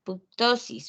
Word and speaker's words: ptosis: Entonces, cuando los riñones descienden, esa enfermedad se llama ptosis, ¿verdad? Es un poquito difícil de pronunciar la P.